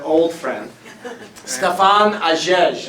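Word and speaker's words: Hagege: Stefan Agege. It's spelled with an H, but it's silent. H-A-G-E-G-E.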